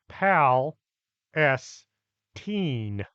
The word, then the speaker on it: Palestine: It's pronounced Pal S Teen, not like that place over near the Mediterranean.